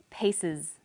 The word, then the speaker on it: pieces: it the example was pieces pieces the S on the end is pronounced Z because it followed an S sound other examples are buzzes